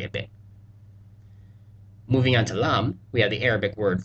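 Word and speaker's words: لا: set of vocab words whenever a lam is followed by an alth forming the sound La they make this special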